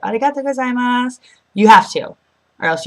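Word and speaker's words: ありがとうございます: You say arigato gozaimasu.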